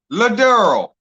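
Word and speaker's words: Lederle: Next is Abbott Ladurl. Ladurl is spelled L-E-D-E-R-L-E. Ladurl.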